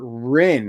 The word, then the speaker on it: Rin: Thank you, Alexander Rin. I've been saying it wrong the entire time, but Rin is what it is.